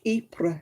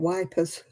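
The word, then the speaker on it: Ypres: to majoraca because they thought they had to pronounce the j yeah times have rolled on though since then yeah it's like eepre into you know in the war um my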